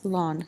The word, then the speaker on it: ln: but log base e can be written as lon so we're going to get e to the ln or natural logarithm or lawn as i pronounce it of 2.